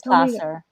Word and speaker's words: Placer: Yeah, it is Placer.